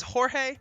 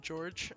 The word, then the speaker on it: Jorge: he's called him George its Jorge but everyone called him George because that's how it's like spelt like pronounced an American that I just found